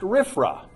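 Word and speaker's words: RFRA: It's pronounced RIFFRA. There's only one way to say it, but it means a lot of very different things.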